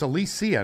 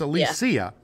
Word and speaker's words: Alicia: watch the movie yeah well alicia not alicia right it's alicia now silverstone uh according to her she came out after 40 years of us pronouncing her name wrong she decided it was a good idea to it's alicia uh silverstone she's celebrating that clueless